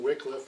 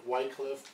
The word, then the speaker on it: Wycliffe: to give a lecture on John Wickliffe I prefer the pronunciation Wickliffe I know a lot of people like whitecliffe both are fine I'm sure U and